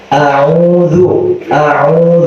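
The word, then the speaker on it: أعوذ: Kalau dibaca U ya U. A'udzu, jangan dibaca O.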